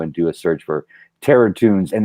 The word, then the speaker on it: Terratunes: Of course, I have the Terratunes 4 Indiegogo campaign, which is available right now for everybody. Go to Indiegogo and do a search for Terratunes, and that's spelled Toons, like cartoons, Terratunes.